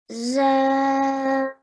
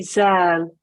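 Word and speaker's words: ذال: you tend to say zal. But in Arabic, when we pronounce this letter, we have to put the tongue in the same way as if we're saying the English word they or this.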